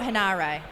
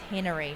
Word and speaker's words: Henare: It's not Henare, it's Henry, I believe, I think.